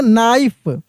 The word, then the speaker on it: knife: KNIFE को हम लोग पढ़ेंगे नाइफ।